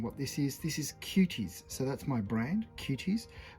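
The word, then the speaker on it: Quties: This is Cuties.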